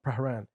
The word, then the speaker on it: Prahran: He's like, Pran. I'm like, the fuck? There's another R. There's like missing letters here that we don't need. So it's Pahran? When you see it, you can Yeah. pronounce it Prahran.